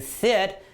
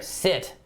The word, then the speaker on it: sit: here is sit right sometimes people from other countries mispronounce it and instead of saying sit they say something that sounds a little bit bad for a lot of Canadians and Americans and they say right so remember sit is not the same